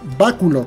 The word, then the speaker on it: Báculo: Regresamos y nos vamos a Báculo, que siempre lo pronunciamos súper bien. ¡Cancelamos la compra! Sí, claro que sí, lleva por ahí un acento, ¿eh?